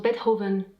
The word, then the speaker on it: Beethoven: partout 1,8 en donnions en fait ça se prononce beethoven expliqué gaëlle pas bête hove pasquereau veut dire